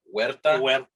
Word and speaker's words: Huerta: yeah was that like so in spanish like the h is silent so it's more like huerta exactly but yeah but